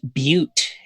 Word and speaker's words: butte: just interject and say that's pronounced Butte in English yeah thank you that's